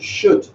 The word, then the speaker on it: should: Because one of the problems they have with should is they want to pronounce the L. You should forget it. Should.